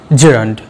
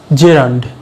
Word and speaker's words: gerund: আজকের ক্লাসে আমাদের টপিক জেরান্ড। চলো শুরু করা যাক। জেরান্ড, GERUND, মনে হতে পারে জিরান্ড, না, জি এর উচ্চারণ হবে না, ওটা জে উচ্চারণ হবে, জেরান্ড, জেরান্ড। ক্লিয়ার?